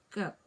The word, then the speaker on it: cooked: All the eats here, Fabio, they have the T sound. So can you please start with this word? Cooked.